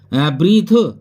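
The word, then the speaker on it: breathe: ब्रीथ, ब्रीथ means होता है सांस लेना। देखिए बाद में ई आ रही है, इसको भी नहीं बोला जा रहा है, ये सब साइलेंट रहती हैं।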